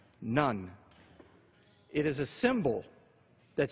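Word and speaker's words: ن: This is the Arabic letter for N and it's pronounced none.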